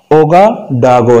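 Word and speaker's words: Ouagadougou: आपको मुश्किल पेश आएगी, लेकिन इसका प्रोनाउंसिएशन ओगाडागो है, ओगाडागो।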